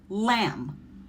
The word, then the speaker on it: lamb: And when you see that pattern, the B is silent and you're going to pronounce the M sound, like lamb, climb, or thumb.